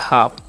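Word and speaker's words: half: अचन आ करना है एल यहां पर साइलेंट होता है एफ से प एफ जो है उसका सान प काण तो हो गया हाफ अब इन सभी का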